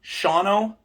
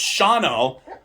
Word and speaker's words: Shawano: yeah, like I'm a fucking retard because she's telling me that it's Shawano. And I'm like, you just took an entire syllable out of it and letter.